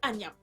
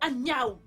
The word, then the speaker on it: Agiaou: Arrête de m'appeler Agnam. Mon nom c'est Agiaou. Nous vivons ensemble depuis tant d'années et tu n'es pas capable de prononcer mon nom correctement.